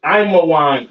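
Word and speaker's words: עמון: Ammon, all right, Ammon, which is Imawan in the Hebrew.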